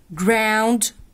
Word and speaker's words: ground: Ground الجي هنا تنطق الج. تمام. ليه برضو؟ علشان ما جاش معها اصحابها. مين صحابها؟ اي اي واي. لو جه معها اصحابها تتنطق ج. تمام. انما هنا ما جاش فهنطقها ج.